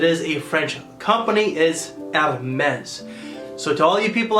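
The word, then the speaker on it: Hermès: from the house of Hermes I tend to pronounce it as our men's but the correct pronunciation because it is a French company is out of mess so to all you people out there that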